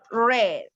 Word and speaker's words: read: what about reed okay for reads is the same we write the same verb but the pronunciation is different okay so read pronunciation red okay that is the pronunciation red like the color okay red red so